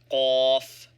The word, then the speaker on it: ق: Fa, f, qaf, q, pronounced like a guttural Q.